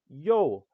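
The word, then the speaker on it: Ё: Pronunciation is yo. Name, yo.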